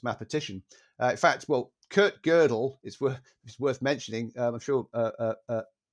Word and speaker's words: Gödel: that he gave me, and I'll have to pronounce this correctly. It's called Gödel, Escher, Bach.